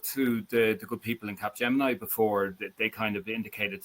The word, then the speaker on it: Capgemini: And just to kind of echo what you said there, do you remember I mentioned Capgemini or Capgemini? I pronounce it incorrectly, by the way, folks.